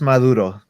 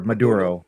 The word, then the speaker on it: Maduro: So in the so in our Spanish accents we would just pronounce it as Maduro basically but you can just say Maduro if anything.